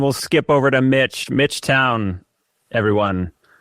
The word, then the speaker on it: Towne: Mitch Town, everyone. You can look there. Hi. With an E. Mitch made uh town with an E. That's right. Made sure that I pronounce it correctly and it's pronounced uh town,